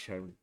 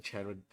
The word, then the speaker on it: Charon: I think it's pronounced Sharon. Like Sharon.